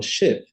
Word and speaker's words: ship: vogar nós temos aqui Sheep Sheep né de ovelha né Sheep porque se eu falo ship ship seria um naviu né agora ship ship que na transcrição na escrita é com são com dois v a gente tem o i longo Então essa diferença aqui